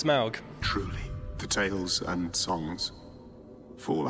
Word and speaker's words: Smaug: uh the desolation of schmarg or smorg or smorgas borders uh Adam you went to go see it correct my pronunciation please uh it's Smaug truly potatoes and songs